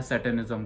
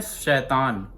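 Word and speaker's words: Satan: वो फॉलो करते हैं सैटनिज्म को। कई लोग सैटन को कहते हैं शैतान, बट शैतान, हाँ, काम शैतान वाले ही होते हैं, बट उसका जो प्रोनाउंसिएशन होता है वो सेटन होता है।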